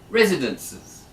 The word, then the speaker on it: residence: okay the next one residences residence yeah and this time it's on the first syllable isn't residences you repeat